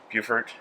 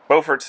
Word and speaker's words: Beaufort: it is a coast city with at Beaufort Buford Buford Buford Beaufort's North one Beaufort the South one that spelled